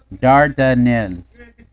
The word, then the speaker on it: Dardanelles: Pronunciation. Dardanelles.